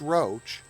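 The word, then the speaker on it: Roche: It's pronounced Roach, uh, Maggie, Terry, and Suzy.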